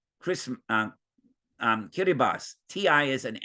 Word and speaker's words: Kiribati: and it looks like Kiribati but that's pronounced Chris um um kiribas TI is an s in kiribas language right TI is an S don't ask me why but you can see